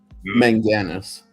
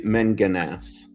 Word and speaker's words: Manganus: Manganus. Mang with the A or more emphasis on the A? Yeah, like or you could say Manganas.